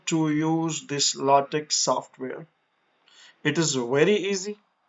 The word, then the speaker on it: LaTeX: Today we are going to learn about a very modern software that is called LaTex. Sometimes it is pronounced as LaTeX, and at different places, different people pronounced it LaTeX.